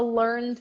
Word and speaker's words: learned: can check it out the word learned the verb learn the last syllable is pronounced and straight to the deep learned but the adjective is an exception you can say that someone is a learned person a learned person because